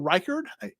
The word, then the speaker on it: Reichard: of Western Kentucky punter Michael Turk kicker will Reichard that's how it's pronounced in linebacker D Winters right so uh